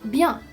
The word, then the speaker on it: bien: va, you could say bien, which is good, bien. Again, you can see how I'm not saying the last syllable, bien. I'm not saying bien, it's not Spanish here, I'm saying bien.